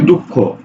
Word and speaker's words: দুঃখ: বলছি যে আমরা এইরকম করি যেমন দেখো বলছে দুঃখ দেখো তো দুঃখ উচ্চারণ কি হয় উচ্চারণ হয় দুঃখ খ ওকারে